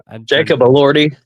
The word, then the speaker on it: Elordi: How do you pronounce? Jacob Elordi.